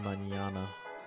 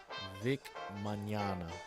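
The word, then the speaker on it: Mignogna: pronounce Vic's name right it's supposed to be pronounced Manana like the word tomorrow in Spanish Manana Vic mcana Vic Manana Vic Vic Manana yeah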